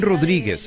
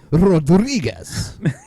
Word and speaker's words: Rodriguez: If you notice uh the reporter is uh pronouncing everything very Spanish-like. Rodriguez. I love that when they roll the R, but there's no hint of any other accent ever.